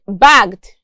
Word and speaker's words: bagged: But in this case, we have an intervening vowel in the word bagged. And also note that the double G here is represented as one G. And the E is silent.